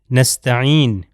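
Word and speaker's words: نستعين: ہمارے پاس ہے نستعین۔ جی نستعین جو ہے عین سے ہے، اس کا مطلب ہے عون سے آتا ہے، یعنی مدد، صرف تیری ہی مدد چاہتے ہیں، نستعین۔ مگر اگر میں حمزہ سے تلفظ کر دوں، آپ یہ دیکھ سکتے ہیں کہ یہاں پر یہ حرف عین ہے، یہ والا، ٹھیک ہے،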